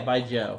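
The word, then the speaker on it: baijiu: me which reminds me by joe or baiju however you say it it's definitely not any it's by joe right yeah by joe but it's it's kind of like spelled like a jew but by joe is how you say i you yeah but that's a joke sound right joe it's mandarin so like they have opinion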